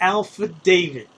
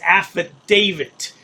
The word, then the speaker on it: affidavit: He has always said Alpha David. I think the word that you're seeking, goat, boy, is affidavit. It's spelled D- A Vi T on the end. Affidavit. Yes. And uh you have no